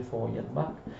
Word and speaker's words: Feuerbach: Le tesi su Feuerbach, ma si legge Feuerbach, le tesi su Feuerbach 1845 sono in realtà composte da poche paginette, d'accordo?